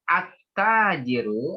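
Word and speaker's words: التاجر: Ya, jadi itu bacanya at-tajiru. Alif lamnya nggak dibaca Bu ya.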